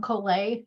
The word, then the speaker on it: Colet: So with that being said, I am KoolAid. I need to get an updated summer photo. That was in the dead of winter. But KoolAid rhymes with Olay.